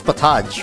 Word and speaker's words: potage: or fish in a pot. Yeah, pretty much. How do you pronounce that? Is it pot? No, it's Potage, right?